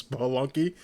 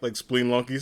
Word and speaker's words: Spelunky: She calls Spelunky like Spelunky or Spenlunky, and I always laugh because I'm just like it's Spelunky, but it looks like Spleenlunky sometimes.